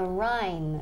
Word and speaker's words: Rhine: How do we say el rin in English? The rin. The rin. Casi, pero no. So we want to say the Rhine.